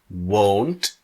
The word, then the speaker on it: won't: or you want now the difference in the pronunciation is with the pronunciation of won't the mouth does not open very much here I won't do